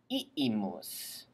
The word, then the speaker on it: iimus: Imus is in both, but one has iimus. We went back then. And if you say it correctly with... And if you say it correctly, separating the two I's into two separate syllables, then that'll be a